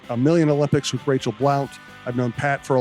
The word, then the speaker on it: Blount: Like, no, the basketball player pronounces it Blunt. And I'm like, right, but I know her and it's Blount.